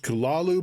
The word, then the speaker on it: Cthulhu: Side note, I know it should be pronounced Kulalu, but everybody I know calls it Cthulhu, so that's what I'm going with.